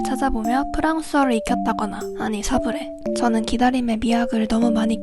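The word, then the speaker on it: sablé: 먹었어 삐삐삐삐삐 안녕하세요 오늘은 시부레 아니 사브레를 만들어 볼 거예요 아 시부레 쿠키 만드는데 설탕이 없네요 아 시브레 아니라 사브레 있데 왜자꾸 시브레 사브레는 프랑스어로 사브레라고 읽고요 모래가 뿌려진이라는 뜻을 가진데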